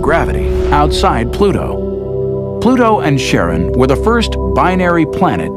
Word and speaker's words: Charon: preferred to pronounce it Charon more like his wife's name Charlene from the motions of